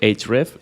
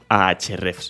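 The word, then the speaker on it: Ahrefs: exactamente Cómo se pronuncia yo digo siempre age red Pero puedes llamarla a H red si quieres y sabes que tienen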